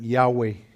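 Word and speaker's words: Yahvé: a Moisés y es el nombre que nosotros pronunciamos a veces Jehová otros lo pronuncian ya güey y este y entonces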